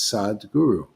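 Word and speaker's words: Sadhguru: inner experience they are returned referred to as sad guru the word sod is not a title it's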